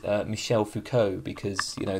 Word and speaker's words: Michel Foucault: I would intuitively pronounce it Michael Foucault, but I believe it's Michel Foucault, because, you know, the French don't believe in pronouncing the letters that they put into words for some reason.